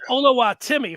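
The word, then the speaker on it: Oluwatimi: that's his name but while it looked like ola watimi it is pronounced olawatimi olu olowatimi for those that are scoring at home and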